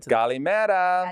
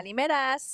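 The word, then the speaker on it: Καλημέρα: Kalimera. Kalimeras. Kalimeras. What? Nope, no S.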